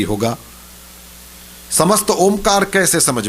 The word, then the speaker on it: ओम: ह्रस्व होता है ओम, एक दीर्घ होता है ओम, लेकिन एक प्लुत होता है ओम, ये प्लुत। इस तरह से जब पुकारते हैं तो लास्ट में म इसकी गुंज रह जाती है, ओम, जैसे भौरा गूंजता है।